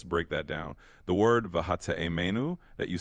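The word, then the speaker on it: והטעימנו: Vehatiemenu mipardes rimonim. Okay, what does it mean? How do you say this word? Vav, hey, tet, ein, yud, mem, nun, vav. Absolutely. Let's break that down. The word vahate'emenu that you spelled out, vav, he, tet, ayin,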